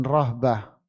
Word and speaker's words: rahbah: dengan makna raghbah dan rahbah. Ingat, membacanya raghbah bil ghain, pakai ghain, raghbah. Ya, pakai ghain, raghbah. Sedangkan yang satunya pakai ha, rahbah.